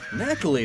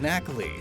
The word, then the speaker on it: Nacli: the periodic table is NaCl. Knackle. The I is then added to make it sound like a name, and is diminutive.